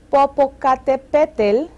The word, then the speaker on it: Popocatépetl: Let's take, it's a long name, so we take syllable by syllable. Popocatépetl conquistó a los enemigos del rey.